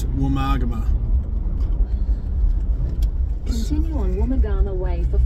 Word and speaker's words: Woomargama: Of course, the navigator can't pronounce it. It's not Woomargama, it's Woomargama.